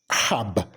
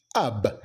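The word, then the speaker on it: herb: do you pronounce it many people would pronounce it as Hab but then the correct pronunciation is AB ab ab you know a plant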